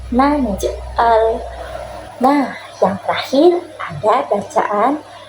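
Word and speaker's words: نجعل: Nah, itu juga sama ya, itu juga dipantulkan karena masih ada tanda sukun di tengahnya. Jadi bacanya naj'al.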